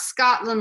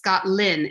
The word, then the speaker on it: Scottlin: It's not Scotland like the country, it's Scottlin, L-I-N.